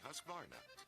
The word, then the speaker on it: Husqvarna: so i teach you now how to say husqvarna you say husk like corn and barn like